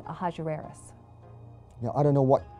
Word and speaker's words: Ahasuerus: Now that was hard for the Jews to pronounce, so they said Ahasuerus. We know him as Ahasuerus.